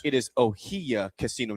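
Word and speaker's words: Ohiya: I was told in the notes how to say it, but somebody locally said it is pronounced it is Ohia Casino, not Ohaya at Tatanka.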